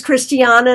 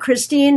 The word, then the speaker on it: Christiana: how to say it my name is Christiana not Christine not Christina so I get it